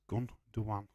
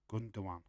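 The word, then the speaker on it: Gündoğan: It's Gundogan. But you're wrong. People are confusing me. You was wrong. It's spelled Gundogan. I've got it right. Gundogan.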